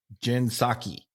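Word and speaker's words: Psaki: Stephanopoulos Stephanopoulos H Dava Jen saki Jens saki yeah hey it's spelled really bad on my paper it PS a k i yeah I forgot a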